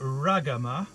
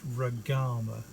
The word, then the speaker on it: Ragama: On to Ragama. Now, I used to pronounce this Ragama, and I noticed that our Sri Lankan members of the study circle pronounce it Ragama.